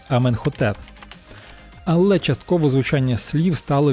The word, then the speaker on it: Аменхотеп: імен використовують інакше прочитання наприклад ім'я іменихтп яке згідно з діючими єгптологічними нормами мало б читатися як іменхетеп традиційно вимовляється Аменхотеп але частково звучання слів